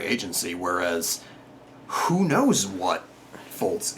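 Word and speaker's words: Fultz: whereas who knows what fols it's fults right it's pronounced fults fults I I this is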